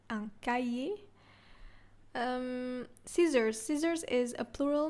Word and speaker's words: cahier: Exercise book, un cahier. So the H is silent, un cahier.